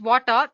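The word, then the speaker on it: Watir: platforms like Windows Mac Linux then we have water w a TI basically it's pronounced as water is an open-source testing tool made up of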